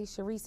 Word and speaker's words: Sherise: that's t a t Sharice is spelled like she Rise um s h e